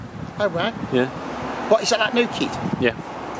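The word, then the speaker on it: Kei: me the pronunciation is K it's spelled Kai k-e-i because he told me it's pronounced K so I like to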